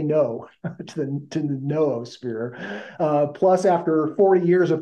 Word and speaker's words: noosphere: Pierre as Teilhard, and the noosphere as with the new instead of the no. I say, just say no to the noosphere.